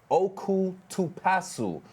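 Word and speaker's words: オクトパス: And from the library's Facebook post, it says, quote, octopus in Japanese is pronounced like oku to pasu.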